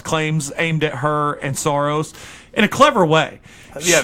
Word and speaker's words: Soros: By the way, she also, in the same night, went after Chelsea Clinton and George Soros. Is that how you pronounce his name? Soros?